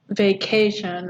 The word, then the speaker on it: vacation: So like the word vacation, which I'm sure everyone wants, has 3 syllables in it, right? And the stress is on K, vacation, right?